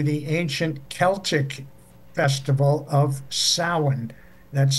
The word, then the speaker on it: Samhain: ancient Celtic festival of Samhain. That's spelled S-A-M-H-A-I-N, pronounced Samhain in Gaelic, which was an end